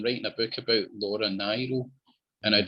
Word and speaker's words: Nyro: Only one thing, you pronounced her name wrong. It's Nyro. I would have never, but I did hear that that it's Nyro, and and I've I'm so used to saying Niro.